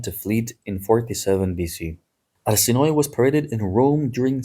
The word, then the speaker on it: Arsinoe: Keep in mind, by the way, in documentaries they use the version Arsinoe. They say something like this. Arsinoe is how the name is supposed to be pronounced. It's in Greek anyway. She ended up at the